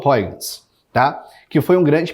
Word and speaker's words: Huygens: Existem várias pronúncias, Huygens, eu falo Huygens, tá?